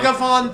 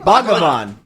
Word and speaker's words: Bhagavan: Bhagavan Doc.